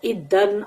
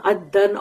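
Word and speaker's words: إدًّا: It has been said that it is pronounced iddan, addan or addan with elongation of the first vowel.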